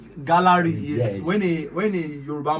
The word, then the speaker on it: GÁLÁRÌ: So the name GÁLÁRì is Yes. when a Yoruba man, Yoruba people have a way of pronouncing words with tonation and also it's GÁLÁRì. They enunciate Exactly. everything.